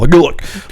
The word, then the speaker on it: Gultak: And um Gultak. Gultak. Which you can pronounce however you want. Gultak. It's It's meant to be a guttural, Gultak. Like it's an orc name, so.